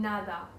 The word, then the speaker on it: nada: Yeah, you're pronouncing the D too. You're going too hard on the D. Queda. ¿Así? En nada queda. No, the one in nada.